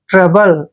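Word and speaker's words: trouble: है ना और देखिए यहां पर ओ यू यहां पर साइलेंट रहेगा जब भी बी से पहले ओ यू आता है तो वहां पर साइलेंट रहता है और बी को हम क्या पढ़ते हैं ब और एल ई को ले ट्रबल ट्रबल होता है कष्ट या दुख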